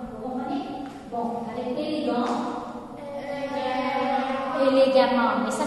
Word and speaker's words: élégamment: Élégamment. Mais ça s'écrit avec un E et non pas un A.